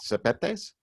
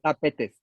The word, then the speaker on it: tapetes: She Yes, creates zapetes, the yes, you know the rugs, for those that aren't familiar. One of the zapetes that she made, am I pronouncing that correctly? tapetes, tapetes. Zapetes, okay.